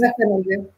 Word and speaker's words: Bassanese: Is, is it Bassanese or Bassanisi, or how is that pronounced? Bassanese.